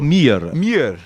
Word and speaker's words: Meyer: É Vitor Meyer ou Mier? Vitor Mier. Vitor Mier. Isso, os dois Es acabam se tornando um I aí, um I mais esticado, né?